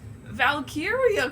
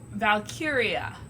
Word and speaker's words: Valkyria: It was going to be easier than a joke where the punchline was Valkyria Chronicles.